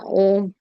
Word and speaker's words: ॐ: तो ये तीन ध्वनियों से बना हुआ है अ उ और म ध्वनि से। तो अगर आप ध्यान से देखें तो हमारे अंदर भी अगर हम आप ओम का उच्चारण करें तो हमेशा क्या होता है?